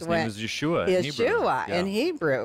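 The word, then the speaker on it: ישועה: pronounce the word salvation in hebrew and it's pronounced yeshua wow yeshua so so anytime that you read in the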